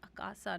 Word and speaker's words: Akasa: are they still around akasa a oh it's akasa we've lost it we had it for a second we lost it you miss pronounce anyway I like Air India so you